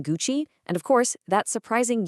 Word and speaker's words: Gucci: Just remember, silent H in Hermes, that tricky nasal on in Vuitton, the hard G in Gucci, and of course, that surprising U sound in Bulgari.